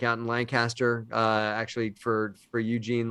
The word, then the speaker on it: Lancaster: though you call it you like me call it lancaster because we're from we're from around the area but for for matt and greg they would call it lancaster like say all the syllables but if you're from pennsylvania you just put it into one syllable so it's there are